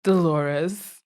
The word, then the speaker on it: Dolores: which dolores um oh that's that was nice dolores yeah do laura stewart glorious the witch the the lore was the right pronunciation of that name dolores and uh frederick